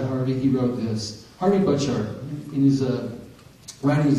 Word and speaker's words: Butchart: And by the way, his name is pronounced Butchart. When I interviewed Harvey, I asked him, hey Harvey, how do you say your name? Isn't it Butchart? And he said, no, it's Butchart. And I'm like, hmm. He said, it's Scottish. Well, you really want to admit that. Okay, Butchart. That's how you say it.